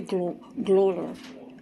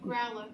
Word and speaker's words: Growler: Welcome to Glorer. That's how you pronounce it? How you pronounce it? Glorer? Growler. Growler.